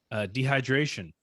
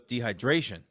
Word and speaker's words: dehydration: Dehydration. I think you nailed it. Okay. Why do you say that wrong normally? Yeah, normally he goes dehydration. He puts the emphasis on the Dre.